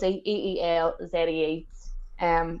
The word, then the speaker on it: Ilse: So it is Ilse, Eelzee, Brandt.